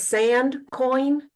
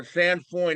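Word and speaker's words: sainfoin: one you mentioned was sand coin no no no sand foin it's spelled still it's different it's s a i n f o i n okay thank you very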